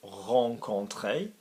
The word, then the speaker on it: rencontrer: speaker seems unnecessary so hong Conte is to meet somebody for the first time now this verb is also problematic because it is pronounced Hong Kong clay and there are many